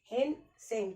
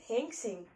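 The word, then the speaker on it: Hiuen Tsang: हेंग सेंग, ठीक है, T silent है, हेंग सेंग।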